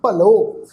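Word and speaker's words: ਭਲੋ: इस शब्द का पाठ उच्चारण करांगे भब्बा लल्ला, फिर ऊड़े अखर नूं औंकड़ की मात्रा लग जाएगी। पाठ उच्चारण करांगे जी भलो।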